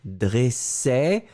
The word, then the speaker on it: dressait: ça encore une fois c'est le E qui est ouvert dressait d'accord premier dressé 2e